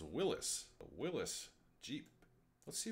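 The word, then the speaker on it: Willys: Hey, it kind of looks like a Willy's Jeep. Well, you're actually wrong, because it's not pronounced Willy's, it's pronounced Willis.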